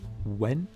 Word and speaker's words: Nguyen: I believe it's pronounced Wen.